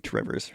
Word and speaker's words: Two Rivers: Now, if you're from Two Rivers, it's pronounced Trivers.